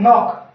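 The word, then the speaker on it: knock: Friend, अगला है नॉक, यानी यहाँ पर देखो के जस्ट बाद एन आ रहा तो के क्या हो जाएगा, साइलेंट, और इसे हम क्या बोलेंगे, नॉक।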